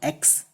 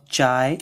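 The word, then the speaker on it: χ: This is not x. Remember, it is a pronunciation of chi.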